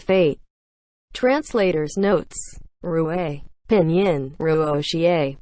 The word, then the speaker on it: 若邪: Pinyin, Ruoxie, pronounced as Ruoxi, but the author has made a note that we should refer to it as Rui.